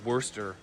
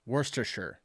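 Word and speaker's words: Worcestershire: I think it's called Worester Worchester. I have no idea what it is. I'm probably pronouncing it wrong, too. We say worstershure. That's what we call it.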